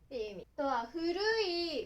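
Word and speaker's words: 古い: Nó có thể được đọc là "furu_i" hoặc "ko".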